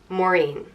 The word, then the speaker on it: Maureen: it means bitter and it's Prince more mean Maureen it's it is an old Irish name but